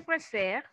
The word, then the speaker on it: préfère: Si on conjugue le verbo préférer pour la première personne, je préfère. No estamos pronunciando la última sílaba, ¿ok?